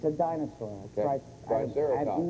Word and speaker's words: Triceratops: We found a, I want to say it the right way, Triceratops. It's like a big, it's a dinosaur. Okay. Triceratops. I'm not sure I'm pronouncing it correctly.